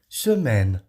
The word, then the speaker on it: semaine: É o AI. Dando um som de E. É um som entre E e E, geralmente é. Tá? Semaine. Tá? E aí o N aqui só se pronuncia o N.